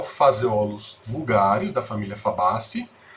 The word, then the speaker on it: Phaseolus: Então, o feijão que nós utilizamos na culinária é o Phaseolus vulgaris, da família Fabaceae. Então, Phaseolus, PH tem som de F.